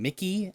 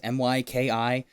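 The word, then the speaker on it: Myki: like bit warden and Mickey I think it's now it's pronounced my ki there's also discussion about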